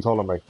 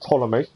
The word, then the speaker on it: Ptolemy: destroy statue of king ptolemy well this is nice to now know how to pronounce it ptolemy not ptolemy follow me okay i'm